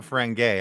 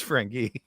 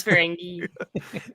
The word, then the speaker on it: Ferengi: It's not Ferengi, I can tell you that much. It's Ferengi. It is Ferengi.